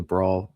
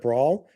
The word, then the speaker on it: brawl: after this show because he says bra so much instead of brawl that I literally went